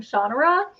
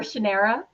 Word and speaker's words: Shannara: as Terry Brooks of Shannara or Shannara, depending on if you do his pronunciation or the show's pronunciation.